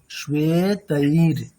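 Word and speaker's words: श्वेतैर्: শ্বেতৈর, বলুন শ্বেতৈর। শ্রেতৈর। হ্যাঁ, শ্বে মানে তালবেশ্বয় বা একার, ওয়াই জ ফেলা, র হসন্ত, তাহলে তার প্রনাউন্সিয়েশনটা কেমন হবে?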